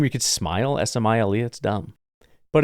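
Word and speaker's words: Smael: are probably wrong, but it is Smile. I actually went and found people saying his name on YouTube because I refuse to believe it, but it's a good name. And I will say, usually I look at stuff like this and I'm like, why don't you just spell it Smile? Because everyone's going to be calling your kid Smale.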